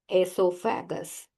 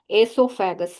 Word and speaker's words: esophagus: Then the third portion is esophagus. The connectivity between mouth and stomach. Yes. Esophagus. O is silent here. ಇಲ್ಲಿ ಓ ತುಂಬಾ silent ಆಗಿರುತ್ತೆ, ಹಾಗಾಗಿ ನೀವು ಇದನ್ನ ಎಸೋಫ್ಯಾಗಸ್ ಅಂತ ಹೇಳ್ತಾ ಹೋಗ್ಬೇಕು.